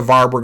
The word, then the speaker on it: Warburg: That's the Warburg effect, named after him. The W's are often pronounced like V's.